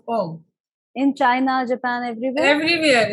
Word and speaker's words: Om: They pronounce om.